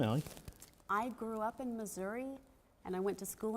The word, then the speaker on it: Missouri: You got to say Missouri. Missouri. Yeah, there you go. You I gotta say just say misery.